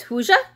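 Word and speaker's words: hygge: smell at hy-vee and a lot of people pronounce it but its Hoosier but it's really focused on being cozy and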